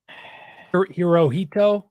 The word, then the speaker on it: Hirohito: It's let me look it up so I can look at it and actually pronounce it instead of butchering it. Emperor Japan. Hirohito.